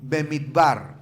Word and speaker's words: Bemidbar: Bemitbar, no se pronunciar hebreo, pero es bemitbar, que significa en el desierto.